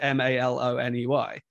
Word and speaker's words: Maloney: He spelled it M-A-L-O-N-E-Y. And she just decided to keep it, you know, and to pronounce it that way. But it was supposed to be Melanie, but it was Maloney.